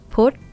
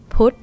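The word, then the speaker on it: พุธ: Now, this one is dead syllable, short vowel, high tone because phaw phan is low class. Yeah. Put. Put. Put.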